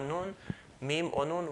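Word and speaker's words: نون: It is impossible to pronounce mim or noon without this sound coming down. So if you were to hold your nose and say mim, you're not going to be able to say it properly. Or noon. Why is that the case? Because there's a natural sound that comes through this area, through the nasal passage going down.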